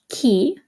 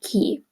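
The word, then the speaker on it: chi: who is key okay remember it's a hard ey I'm sorry it's a hard C Sound because you have the H in there so if the H wasn't in there you would say G but because you have the H remember it makes the C into a hard sound so key and K okay where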